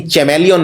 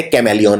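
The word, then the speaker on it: chameleon: लेकिन चैमेलियन नहीं बोलते, बोलते कैमेलियन है।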